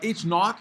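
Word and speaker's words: H₀: go through it so H naught which is the way it's pronounced because it's like the number zero so naught is the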